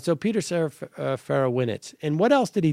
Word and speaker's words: Serafinowicz: Can you pronounce his name for me, please? Peter Serafinowicz. Serafinowicz, right.